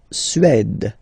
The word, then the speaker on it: Suède: La Suède, la Suède, Suède. Remember, accent grave, it's really open.